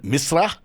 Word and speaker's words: Misra: Aryaan is his name, Misra, if you want to say it correctly.